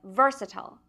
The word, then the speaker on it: versatile: Today's sound is the ver sound that comes at the beginning of versatile.